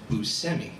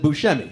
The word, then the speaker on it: Buscemi: I introduced you as Buscemi. Because of my extensive research, I learned that that's how you pronounce your last name. That's true. Even though everyone else in the entire world pronounces it Buscemi.